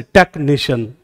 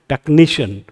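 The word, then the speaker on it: technician: हैं, कभी बोलते हैं ऐसे, टेक्नीशियन नहीं बोलते, कैसे बोलते हैं, टेक्नीशियन, टेक्नीशियन, टेक्नीशियन। तो यहाँ पे आपको पता चल रहा है कि यहाँ स्ट्रेस आ रहा है टेक्नीशियन।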